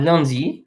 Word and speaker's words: lundi: So this is pronounced un. This is lundi.